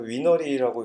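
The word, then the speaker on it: weinre: 웹 인스펙터 리모트 해가지고 위너리라고 이렇게 발음을 하고요.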